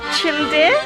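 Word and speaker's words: Çıldır: alone we've arrived at Lake chill deer I think it's pronounced and it's a completely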